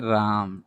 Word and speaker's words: राम: राम, यहाँ पर देख लीजिए राम, तो राम में म आधा उच्चारण हो रहा है और रा तो पूरा है, तो देखिए ये तो रा हो गया, म में आधा उच्चारण है, ए का प्रयोग नहीं करेंगे।